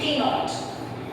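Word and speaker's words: ctenoid: Next हम बात करेंगे हमारे फिफ्थ टाइप के स्केल्स की, जिन्हें हम बोलते हैं टीनॉइड, जिसमें सी साइलेंट होता है।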